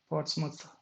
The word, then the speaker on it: Portsmouth: see that thing again portsmouth okay moth portsmouth so nothing you do you don't pronounce it like mouth but not portsmouth well